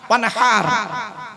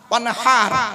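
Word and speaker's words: وَانْحَرْ: ওয়ানহার, ওয়ানহার, এই গলার ভেতর থেকে হে এটা উচ্চারণ করবে, হাই হুতি হাই হাওয়াজ নয়।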